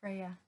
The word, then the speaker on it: Freya: How do you pronounce that? That's Freya.